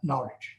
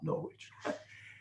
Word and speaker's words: Norwich: Of course, both of us having been born in England, we would want to pronounce that Norwich, not Norwich, but that's what it is.